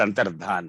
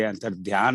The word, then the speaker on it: अंतर्धान: So अगली बार कभी पढ़ें तो कहें, या तो अपने इसका ध्यान रखें कि ये अंतर्ध्यान नहीं, अंतर्धान है।